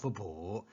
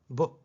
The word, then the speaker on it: 卜: The pronunciation of Bu is like the sound produced when a tortoise shell cracks. Bu. Bu means divination, predict.